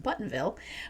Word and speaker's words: Bothanville: The sinister bridge is meant to usher in a new era for Bothanville, pronounced Buttonville, but the inner lives of several characters, including Harriet's, fall victim to its supernatural influence.